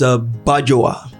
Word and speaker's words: Bajowa: So which is the correct pronunciation? It's Bajowa. And then it's actually the full complete pronunciation of it. The more complete way to pronounce it is actually Obajoluwa.